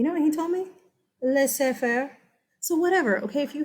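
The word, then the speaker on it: laissez-faire: kids in the past that are like miss its laws they affair hey guess what I had a French student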